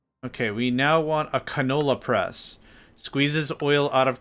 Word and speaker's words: canola: Canola. There's an L in it. Canola. There's an L in it. And I was just like, canona? Why? Why no canona press?